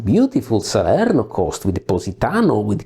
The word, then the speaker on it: Positano: I am saying these names for two reasons. First, this is the actual Italian pronunciation, so it is nice for me. I'm really happy to say your names like Avellino, Ariano, Irpino. This is the exact Italian pronunciation.